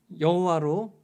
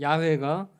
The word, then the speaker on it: 야훼: 그래서 후대 사람들이 4개의 자음 문자에 아도나이의 모음을 붙여서 여호와로 읽게 되었는데 성서학자들의 연구에 의하면 여호와보다는 야훼가 원래 발음에 더 가까울 것이라고 이야기합니다.